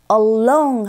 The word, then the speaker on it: along: Along 할 때도 R 발음하시는 분들이 계시더라고요. R이 아니라 L 사운드는 along 하면서 long 할 때 혀끝이 윗니 여기 보이시죠? 여기 뒤에 붙어야 돼요.